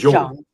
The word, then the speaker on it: Jung: It's not Jung. It's like halfway between Y and J.